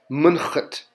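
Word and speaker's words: mnḫt: This is pronounced munchut. And again, when you see an H with the V under it, it's pronounced ch, like the back of your throat.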